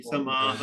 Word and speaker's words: समाः: आप भी यहाँ पर थोड़ा सा विसर्ग के उच्चारण पर ध्यान दीजिए। उषित्वा शाश्वती समाह, इस प्रकार से, शाश्वती ठीक है।